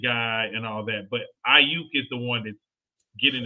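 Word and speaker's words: Aiyuk: Brandon Ayuk.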